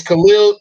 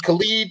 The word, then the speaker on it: Khalid: little clips i've seen it's khalil i mean khalid stewart i believe is the way he pronounced his name 511 180 uh cornerback